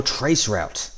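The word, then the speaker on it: traceroute: to that question is a trace RT or trace route uh as as you would pronounce it generally so look uh as stated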